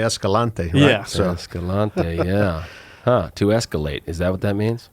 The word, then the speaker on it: Escalante: proper cuz I don't know spaniel you say Escalante yes to escalate is that what that means